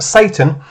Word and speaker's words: Sartain: like to be silly dr sartain pronounced satan comically enough wants to